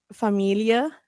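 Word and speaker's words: Familie: I I'm glad you didn't say famili or something like that. Is that like Does that mean something else or No, but I'm like, you know, it's familia. Yeah, there you go. Familia. There's no A in that.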